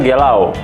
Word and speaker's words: galau: Galau. Sebenarnya galau itu dari bahasa slangnya Portugal. Sebenarnya dia apa namanya? Pronounce-nya sebenarnya gelau.